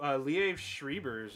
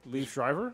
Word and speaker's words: Liev Schreiber: Ooh, so Liev Schreiber's in this. The dude's fucking amazing. Leaf Shriver?